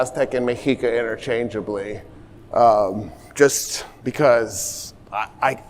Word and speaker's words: Mexica: Another thing that's worth talking about is the pronunciation. So uh my what I've noticed is a lot of people will say mishika sh. I'm saying mika.